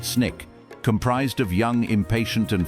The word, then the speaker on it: SNCC: This grassroots movement led to the formation of a new vital organization, the student non-violent coordinating committee, or SNCC, pronounced SNIK, comprised of young, impatient, and fiercely dedicated activists like Diane Nash and John Lewis.